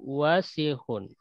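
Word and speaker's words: وَسِخٌ: Kemudian al-mindilu wasihun. Al-mindilu wasihun. Hun ya, itu huruf kho ya. Dan ini pendek di bacanya. Wasihun, pendek.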